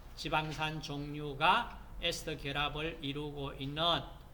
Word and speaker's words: 에스터: 자, 중성지방은 이와 같이 그리세롤의 지방산 세분자가 COOR, 그러니까 에스터, 독일식 발음으로 에스테르 하지 마시고 영어식 발음으로 에스터 결합을 이루고 있는, 자, 이 형태가 중성지방입니다.